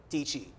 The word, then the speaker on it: Dietschy: a million followers and her last name rhymes with peachy yes I'm speaking about none other than Sarah Deecee Sarah welcome to real